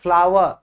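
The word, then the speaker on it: flour: बेटा फ्लोर नहीं है। इसको हम फ्लावर फ्लावर जो फूल होता है ना उसकी और इसकी प्रोनाउंसिएशन सेम है।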